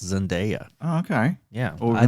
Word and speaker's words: Zendaya: I watched 2 YouTube videos where someone called her by her name, and it's Zendaya.